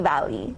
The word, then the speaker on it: Diwali: All right, so before we go any further, am I pronouncing that correctly? Am I saying, I said Diwali? Yes, Diwali.